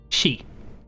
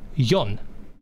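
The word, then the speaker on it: 四: But for just to give people a perspective, the number 4 is pronounced she or yon. It can be pronounced in 2 ways.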